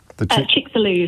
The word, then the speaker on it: Chicxulub: Chicxulub is how you pronounce it.